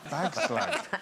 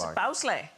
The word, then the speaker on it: bagslag: Bagslag. Yeah. See, not funny to me at all. What, bagslag? No, it's bowsleigh.